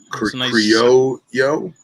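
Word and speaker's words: criollo: like the mind so creole yo yeah yo yo yeah c-r-i-o-l-l-o when you put two l's together in spanish that's a yo sound so here we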